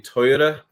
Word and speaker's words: Toyota: Looking at the midsize truck market, the Toyota Tacoma, 3 syllables, Tim, 3 syllables, Toyota Tacoma, up 184.9%.